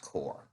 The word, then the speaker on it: corps: I don't remember if they pronounced it corpse or course, because if it's military terms, it would technically be pronounced core.